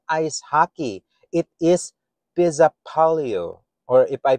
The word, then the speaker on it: Pesäpallo: Pesäpallo. In Finnish pronunciation, Pesäpallo, literally meaning nest ball or Swedish